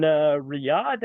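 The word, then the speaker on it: Riyadh: Arabia yeah that is in Riad I think is how you say it that is in the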